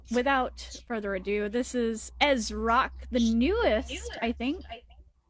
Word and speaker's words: EzzRock: So, uh, for those that don't know me, uh, my name is Ezro, not Easy Rock as a lot of people pronounce it.